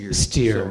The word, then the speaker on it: Steyer: pronounce your name correctly actually it's pronounced steer oh yeah okay that's